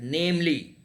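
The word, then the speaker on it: viz.: Yeah, that this you have to read it as namely.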